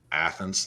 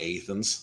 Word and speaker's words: Athens: By the way, we pronounce it Athens, not Athens.